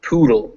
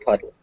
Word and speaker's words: poodle: more time this time make sure it's you get that poodle not puddle and they call this